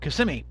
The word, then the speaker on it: Kissimmee: We are currently down in Kissimmee. That's how it's pronounced, Kissimmee, not Kissimmee, but an old Indian thing.